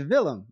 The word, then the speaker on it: Willem: It's Willem.